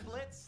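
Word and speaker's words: Blitzø: I'm Blitz. The O is silent.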